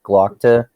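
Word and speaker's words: Glokta: I forget how you actually pronounce his name, but the audiobook makes it sound like Glockta, I think.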